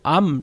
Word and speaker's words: Arm: 있습니다 그리고 영국 정부 암 런던 증시에 상장 재시동 이거 뭐 arm이 아니라 암이라고 읽어야 된다 하더라구요 그래서 암 관련주로는 가온칩스